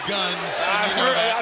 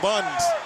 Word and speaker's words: Gunns: It is Guns.